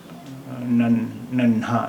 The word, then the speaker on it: नन्हा: ये शब्द देखें, नून, नून दो चश्मी है अलिफ, नन्हा, नहा, नन्हा। अब अगर हम इसे नन्हा इसका उच्चारण कर रहे हैं तो ये दो चश्मी के साथ सही है।